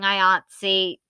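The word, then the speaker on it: IATSE: watch my iatsy video just please ignore me continually mispronouncing ayatsi as i-a-s-t-e the entire time last time on strikes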